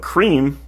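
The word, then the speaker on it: crème: Frappuccino blended cream but cream is spelled c r m with an accent on the first e um and that is the French word for cream so what does this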